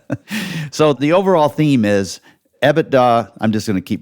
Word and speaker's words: EBITDA: there's i call it ebitda some people call it ebitda some people make the distinction between the t and the d very clear and say ebitda like